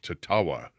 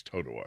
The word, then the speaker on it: Totowa: And it was like Totowa, something as simple as that. And she was saying Tatawa. And I go, no, it's Totowa.